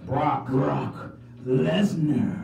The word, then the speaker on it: Brock Lesnar: Brock Lesnar. That's how you say it too, just like that. He broke the brook.